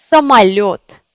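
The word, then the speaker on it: самолёт: Par exemple, самолет. Самолет. Vous voyez, il y a 1, 2, 3 voyelles. Самолет. Et c'est yo qui est accentué parce que c'est yo.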